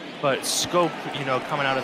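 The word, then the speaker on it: Schoop: But Scope, you know, coming out of the Netherlands, Europeans obviously pronouncing things differently than you would expect here in the United States.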